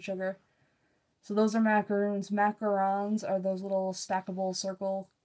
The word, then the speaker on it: macarons: The problem is that a lot of Americans pronounce them the wrong way. So that's why like a lot of people call macarons macaroons, and it pisses me off because they're not.